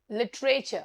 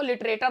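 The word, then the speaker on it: literature: लिटरेचर, बहुत लोग मैंने लिटरेचर को लिटरेटर बोलते हुए सुने.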